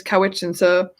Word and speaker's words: Cowichan: Vancouver Island specifically in Cowichan I couldn't remember what it's pronounced how it's pronounced and then a friend of mine said just think of cow and of itchin so it's cow which answer on the map now